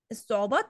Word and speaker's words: الصعوبات: الصعوبات الصعوبات ما نطقناهاش، يبقى لام شمس، يبقى لام شمسية صح يا شام؟